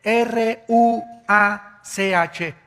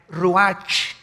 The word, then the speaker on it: ruach: El ruaj, que se escribe R U A C H, ruach, en el hebreo, y se pronuncia igual, ruach.